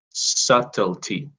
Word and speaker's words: subtlety: You don't pronounce the B. Subtlety.